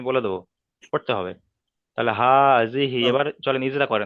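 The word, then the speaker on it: هذه: হা খারাজের কি, খি নয়, হি। হা খারাজের হি। হা খারাজের হি, তাহলে হা হাজিহি, হাজিহি।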